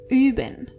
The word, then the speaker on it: üben: Wir üben. Ihr übt. And sie üben. As you can see and hear, you really have to be careful how you pronounce O-Umlaut.